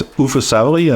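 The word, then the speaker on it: Uffe Savery: The two guys who are behind Safri Duo are, and I hope I pronounce this right, Uffe Safri and Morten Fries. Yes, so it's Uffe Safri and Morten Fries.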